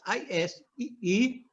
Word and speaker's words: ISEE: I prefer the solution adopted in Brazil, not to spell, but to express acronyms always as a word. In our case, ISEE would be in English, IC.